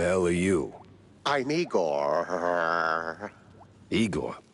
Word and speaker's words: Igor: Igor, not Igore.